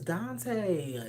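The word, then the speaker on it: Dontay: My real name is Dante. D O N T A Y. I know it's spelled differently. My mom and my daddy wanted to be more creative.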